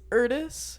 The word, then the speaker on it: Erdis: It's Erdis. Rhymes with Erdis? Curtis.